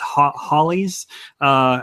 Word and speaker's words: Halley: And I heard somewhere it's actually pronounced Halley's. He's a British astronomer, if I'm not mistaken.